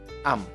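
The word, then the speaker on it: ำ: Jadi memang am dibacanya, bukan a tapi am.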